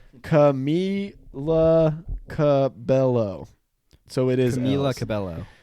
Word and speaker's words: Camila Cabello: want me to pronounce this pronounce cami la cabello so it is mila cabello so i've kind